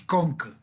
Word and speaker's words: Conques: Cahors, sí, Cahors, Conque, estoy diciendo, no me hagan caso, esto es Conque, Conques se escribe.